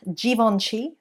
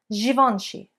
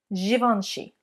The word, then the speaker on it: Givenchy: It is not Givenchy or Givenchy with a j sound, but it's a j, like television, or genre, another French word. Givenchy, Givenchy.